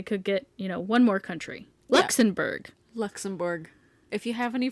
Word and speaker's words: Luxembourg: Ask ChatGPT how pretentious people say Luxembourg. Hold on. I'm going to have Google play it. I can hear your fingernails tip-tapping away. All right, ready? Luxembourg. All right. That was anticlimactic. Justification! But it has an O-U-R-G. Okay, think about the French language and how many letters they just throw in there willy-nilly.